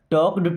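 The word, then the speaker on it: talk: दूसरा have they टॉक्ड टू you? Have means हो जाएगा क्या? दे मी्स वे टॉक्ड देखिए टॉक यहां पर एल साइलेंट है टॉक टॉक का मतलब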